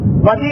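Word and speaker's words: بدیع: کہتے خلق کرنے والا۔ بے دال یہ اور عین، موسم میں خشکی بہت ہے اس لیے عین کا تلفظ آپ کو صحیح سمجھ میں نہیں آئے گا، میں نے خود بیان کر دی۔ بدی اور خالق دونوں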